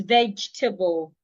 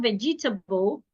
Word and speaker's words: vegetable: Another word is vegetable. Some people will pronounce the word as vegetable. It is not vegetable. Say vegetable.